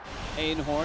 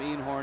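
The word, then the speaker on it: Eenhoorn: Robert Einhorn and yes that's how he pronounces it in Holland ainhorn he said when he got to the Yankees everyone called him enhorn he just didn't correct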